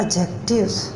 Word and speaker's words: adjective: पढ़ते हैं एडजेक्टिव नहीं इसमें जो दी है वह साइलेंट है लिखा तो जाता है लेकिन बोलते हुए पढ़ते हुए उसको साइलेंट रखते हैं और इस लफ्ज़ को हम पढ़ते हैं एडजेक्टिव तो एडजेक्टिव एडजेक्टिव इस